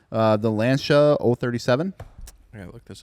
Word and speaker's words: Lancia: Google says it's pronounced Lancia. Lancia.